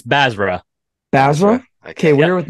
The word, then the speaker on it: Basra: actually forgot to ask you it's uh it's bazra bazra okay we're here with Nick bazra we're